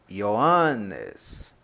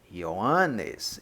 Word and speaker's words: Ioannes: João lembrando o que quando eu falo ioannis e o hum Anes é como o seu separar-se a sílaba aqui unifica separado tá eles não ficam uma pronúncia como se tivessem juntos mas separados então fica e eu